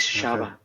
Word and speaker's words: Shava: But because I am from Ensanada, people pronounce the ch with like sh that is shaba because the pron pronunciation change.